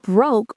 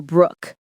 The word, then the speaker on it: broke: When we say I'm broke, that broke rhymes with joke. Smoke, woke, long o sound, not broke or brookke.